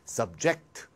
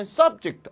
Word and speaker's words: subject: 이 ject가 들어가는 단어가 명사나 형용사로 쓰이면 액센트가 앞에 있고요. 발음이 duct가 돼요. 예를 들면 subject, abject. 명사나 형용사이면 액센트가 앞에, 발음은 duct. 동사가 되면 말이죠. 액센트가 뒤가 되고 발음은 ject가 됩니다. 예를 들면 동사로 subject, 동사로 object. 그러니까 subject, object는 명사로 쓰면 subject, object가 되고 동사로 쓰면 subject, object가 되겠습니다.